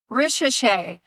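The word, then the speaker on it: Risacher: Zachary Richer. Hold on. I'm asking the other expert here. How do you pronounce the other French kid on the Hawks? Richer.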